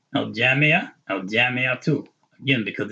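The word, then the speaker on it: الجامعة: a H sound, but you have to pronounce the ta with the dhamma.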